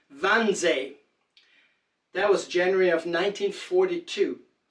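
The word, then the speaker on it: Wannsee: to kill the Jews that was at onesie or in Germany you would announce pronounce it van Ze that was January of 1942.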